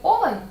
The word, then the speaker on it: олень: зі складним наголосом скажімо в слові олень є наголошеною О як в тій пісні